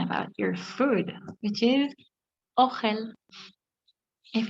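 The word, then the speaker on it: אוכל: Another very important word is talking about your food, which is ochel. If it's easier for you to say ochel, it's okay. It's pronounced ochel, which means food.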